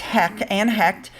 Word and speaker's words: Heche: We're going to start off, I think it's pronounced Hecht.